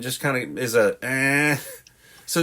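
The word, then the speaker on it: hein: But the H is silent, and the I-N just kind of is a eh.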